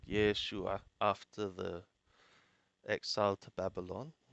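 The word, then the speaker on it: ישוע: that is joshua whose name was also said yeshua after the exile to babylon his name was pronounced yeshua that was the pronunciation of the name in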